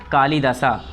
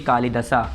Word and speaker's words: कालिदास: ठीक है, तो यहाँ पर लिख दिए कालिदासा। कालिदासा, कालिदासा ए साइलेंट होता है।